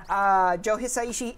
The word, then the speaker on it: Joe Hisaishi: at the very end people are asking if Joe Hisaishi is the composer I want to make sure I pronounce that correct Joe Hisaishi is the composer he is returning from ninokuni